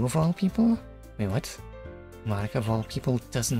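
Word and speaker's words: Monika: right in your name mon okay okay amazing puns there e that's not how you say my name at all okay okay confirm it is not in fact mon it is in fact Monica also that jokes makes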